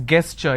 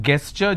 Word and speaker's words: gesture: A lot of people pronounce this as gesture. It's not gesture just because the letter G is there, it is gesture.